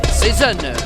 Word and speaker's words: Cezanne: he goes by season that's how it's pronounced there he is getting